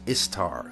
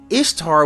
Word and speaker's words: Ishtar: Now, Ishtar, which is pronounced very much like Easter, obviously, was a day that commemorated the resurrection of the god who they call Tammuz.